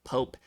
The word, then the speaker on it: POAP: So first off, I just want to say, love how Vitalik pronounces POAP, the one syllable Pope, and like the leader of the Catholic Church. He actually had posted a Twitter poll a little while ago, and I was actually sort of shocked at how many people say that they pronounce it as Pope.